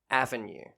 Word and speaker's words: Avon: keep reminding myself that it's avon not avon because it's spelled avon but it's aven and i'm just picturing